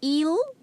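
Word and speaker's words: ils: in plural form now next you have eel the s is silent it means they and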